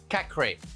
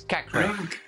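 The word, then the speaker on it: Caqueret: Lyon player is called Cacré. In French, when you have a T at the end and you don't have anything behind and you have only one T, you don't pronounce it. So it's Cacré.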